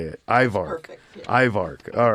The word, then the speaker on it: IVARC: IVARC.